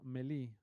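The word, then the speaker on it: melee: have the ability to go milli this is how you pronounce it many okay and Minnie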